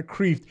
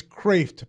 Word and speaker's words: Kreeft: The actual pronunciation is not Kreeft, it's Kreeft.